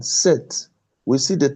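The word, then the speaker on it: sept: 7, set. We see the T will not be pronounced.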